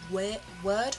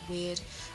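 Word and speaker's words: Wyrd: you about is called the way of the weird by Brian Bates I was pronouncing that as we're word before but I looked it up and apparently it's pronounced weird and even in the book it gives you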